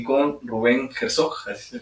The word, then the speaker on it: Herzog: Estoy en este momento con Evelyn Ruiz y con Rubén Herzog, así se pronuncia.